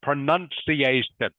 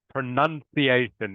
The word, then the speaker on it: pronunciation: word uh for now iation correct thank you NOA pronunciation is actually how it's pronounced pronunciation everyone I think a few of you when